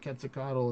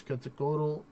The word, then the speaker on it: Quetzalcoatl: They're like, actually, it's not Quetzalcoatl, it's Quetzalcoatl. Or somewhere on that.